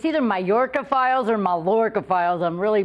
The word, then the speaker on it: Mallorca Files: find out all about, is it Mallorca or Mallorca Files? Mallorca Files. Mallorca Files. Wow, I said it right.